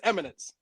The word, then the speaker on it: Immanence: Immanence in Immanence. Immanence. It's a tricky word. It's Eminence.